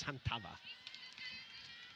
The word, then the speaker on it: Hantava: from the get-go said her name is officially pronounced as Hantava. But wherever she goes, sometimes it gets mispronounced, and she just goes along with it.